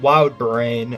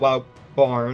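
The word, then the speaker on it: WildBrain: the animation team at Wild brain I think is how you pronounce it I it's not wild Barn it's brain okay I I got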